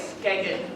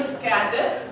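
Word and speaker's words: Skagit: Most of you will say Skagged, but that's wrong. It's actually Scadget, so you can go to the Scadget Valley. Don't worry, most people who move here from other parts of the US also say it wrong.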